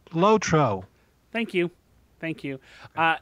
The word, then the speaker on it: LOTRO: of the Rings online so obviously it is pronounced lotro thank you thank you uh now I'm going